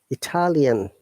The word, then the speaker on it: Italian: how about italic italic see it is changing the stress italic italy italic but italian let me listen to it italian italian italy italic italian similar to canada canadian okay so nice is an